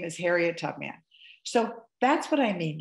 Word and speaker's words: Tubman: Two syllables. First syllable is, that's right, tub. Second syllable is, that's right, man. Put it together. What have you got? Yeah, her name is Harriet Tubman.